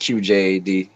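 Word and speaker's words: QJA: is and it's pronounced QJ a it's uh supposed to be like initials like especially for poems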